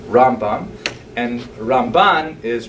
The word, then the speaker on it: Ramban: There's an N at the end of his name for Rabbi Moshe ben Nachman to distinguish him from Rabbi Moshe ben Maimon. It's not only the Ramban as opposed to the Rambam, the accent.